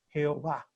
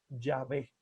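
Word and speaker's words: Yahveh: llegó va jehová y no es correcto porque la palabra como tal no lleva los sonidos de adonay la palabra más probablemente la más cercana la pronunciación antigua que lo han dicho los mismos judíos antiguos es llave y eso es lo que usa la santa madre iglesia llave es la manera correcta de pronunciar el nombre de dios en el antiguo testamento entonces les pongo la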